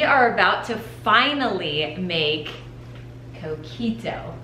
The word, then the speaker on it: Coquito: We are about to finally make Coquito. That's how you say it, Coquito.